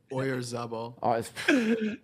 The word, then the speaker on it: Oyarzabal: Oyarzabal.